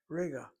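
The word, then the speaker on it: רגע: Note the two syllables. Note the accent. note where Calfin puts the accent on. She doesn't do that normally, but when she does, she's making a point. The accent is not the last syllable.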